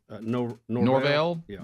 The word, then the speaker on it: Norvell: you say the Colorado State's coach's last name Norvell so Jay Norvell he said we had to do a bunch